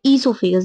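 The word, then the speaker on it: oesophagus: Food pipe या इससोफेगस। देखो ओसाइलेंट है यहां पे। ठीक है? जो यह है ना इसको हम इससोफोगस कहते हैं।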